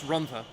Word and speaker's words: Rhondda: I want to point out, in terms of the pronunciation of people's names, I'm 99% sure it's Rhondda.